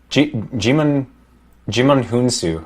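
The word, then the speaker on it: Djimon Hounsou: Yeah, Jimon Hunsu. I think that's how his name's pronounced.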